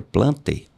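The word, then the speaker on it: Plantae: reino metafita ou plante você escreve plantai mas eu creio que a pronúncia seja plante esse reino tinha não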